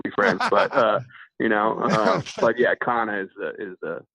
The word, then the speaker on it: Cana: We'll still be friends, but, but yeah, Cana is the name. Yeah. Yeah, Cana, it's spelled C-A-N-A, Cana Outdoors.